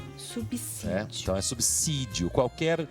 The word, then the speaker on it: subsídio: a pronúncia subir só subsídio qualquer qualquer palavra que tem a letra s após consoante essa letra s tem som de s nada de ver quem